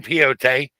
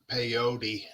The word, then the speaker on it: peyote: done DMT you know they say peot is or peot or however you pronounce it is somewhere between a mushroom and a DMT trip but it helps with the same way the mushrooms help say it again peyote thank you that word how he